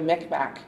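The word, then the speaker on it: Mi'kmaq: My Relations so they think that that noguma is where the migma came from and then that work in first contact with the French when you if you speak it in with the English pronunciation that's where the mcmack would have come from because the K and the Q would have been pronounced differently in the different writing systems so those are the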